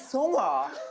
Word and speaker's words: Seonghwa: This is how they pronounce their names. Hi, my name is Seonghwa.